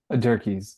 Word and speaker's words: Dierkes: Dierkes. Well, Dierkes? actually, depending if you asked other sides of my family, you pronounced it correctly for one side of my family and the other side of the family.